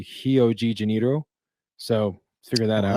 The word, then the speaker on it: Rio de Janeiro: in Rio and and in Brazil RS are pronounced as H's fun fact so Rio de Janeiro is actually hio G janito so let figure that